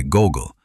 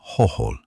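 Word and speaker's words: Gogol: Consequently, he did not pronounce the name of a certain writer as Nikolai Gogel, but in the manner of a little Russian, Nikola Hoh, replacing the G sounds with H's.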